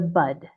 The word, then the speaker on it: bud: It's actually nip it in the bud with a D. This is a gardening expression. The bud is the part that you cut off early. But people mishar the D sound. Instead, they hear t.